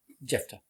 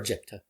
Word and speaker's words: Jephtah: Jefta, or Jepta, if the middle H is silent.